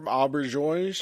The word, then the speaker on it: Auberjonois: We've got Renee Auberjonois. Oh yes, perfectly pronounced.